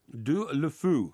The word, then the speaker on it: Deulofeu: Deulofeu.